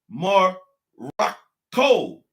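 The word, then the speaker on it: Marokko: kept the a's right they call it morocc okay this is the this is the french now the french spell morocco morocc they spell it m-a-r-o-c okay and the germans called it more rock co spelling m-a-r-o-k-k-o okay that's how the germans spelt morocco all right but the english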